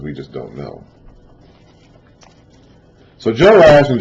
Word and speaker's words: Joash: But to make it simpler, we're calling the northern king Jehoash with 3 syllables, and the southern king Joash with 2.